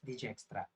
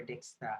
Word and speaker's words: Dijkstra: So some pronunciation, I mean in some other countries they pronounce this as Dijkstra or Dijkstra algorithm. It depends on what nationality you are in.